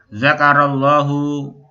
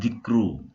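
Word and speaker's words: ذكر الله: hafidhahumullahu subhanahu wa ta'ala, zakarallahu itu ya ikhwan bacanya ya. Sini dibaca zakaro kan, bukan zikru, bukan zakir, bukan kan, bukan zikru, bukan zakir, tapi dibaca apa?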